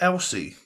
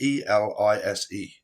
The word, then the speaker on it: Elise: Is it Elsie? Alexa, how do you pronounce E L I S E? I pronounce that Elise, but I'm always